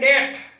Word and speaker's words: debt: के साथ साथ में कुछ शब्दों में बी भी साइलेंट होता है। जैसे यहाँ पर लिखा हुआ है DEBT, इसको बोलते हैं डेट, तो इसका फोनेटिक ट्रांसक्रिप्शन होगा DET, डेट।